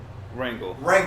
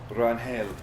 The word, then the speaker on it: Rangel: Wrangle. Yeah. And that's not even like the right way to pronounce it, really. I think like, because my family's Mexican on that side, and it's Rangel or something, but I can't fucking.